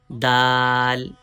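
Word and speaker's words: د: Start using tip of tongue by touching gums of front two teeth. From here we can pronounce dal dal dal.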